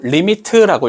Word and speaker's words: lim: 자, 먼저 LIM이라고 적어준다. 그리고 리미트라고 읽어주면 돼.